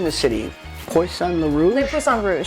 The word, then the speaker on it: Le Poisson Rouge: Le Poisson Rouge, How do you say that?